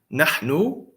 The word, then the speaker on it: nahnu: It's na. It's na. And notice I did not put a vowel on the noon. The reason I did not put a fatha on the noon is because if I don't put a fatha and you see that it has an alif, you should know it couldn't be a kasra or a dhamma.